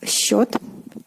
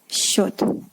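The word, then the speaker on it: счёт: Next we have счет, счет. Pay attention the way this combination of two consonants in the beginning are pronounced. It is "sc", but is pronounced like "sh", счет, счет.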